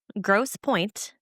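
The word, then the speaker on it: Grosse Pointe: Gross Point is its place. And I know that's how it's pronounced.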